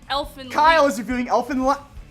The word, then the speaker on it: Elfen Lied: Drew, it's pronounced Elfin Lied.